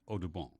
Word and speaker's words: Audubon: a lot of birds John James aabon or as his father might have pronounced it Odon the famous artist Frontier